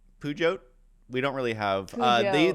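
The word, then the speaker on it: Peugeot: Puote. Pujot. We don't really have uh these are all over French. Perhaps it's French Mike and you don't say the T.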